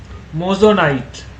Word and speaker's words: moissanite: কি বলে উচ্চারণটা? মোজোনাইট।